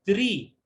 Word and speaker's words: three: con esta doble E, cualquier palabra que encuentren con doble E, eso, métanse a la cabeza que eso se pronuncia como que estuviera ahí una I.